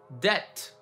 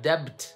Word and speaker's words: debt: Or a word that is not fun at all, debt. It's not debt, right? It's debt.